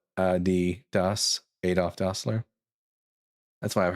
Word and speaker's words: Adidas: That's why it's called Ad Doss.